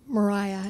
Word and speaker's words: Maria: she could have forgiven Mariah is how they always pronounce her name by the way no one doesn't know if you're just reading it um I think I